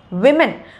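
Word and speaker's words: women: But plural form, அதாவது பல பெண்கள் இருக்கிறப்போ வந்து இங்கிலீஷில் எப்படி சொல்லணும் அப்படின்னா விமன். ஆனால் நம்ம நிறைய பேர் வந்து உமன் அப்படின்னு வந்து சொல்கிறோம், அது உமன் கிடையாது விமன்.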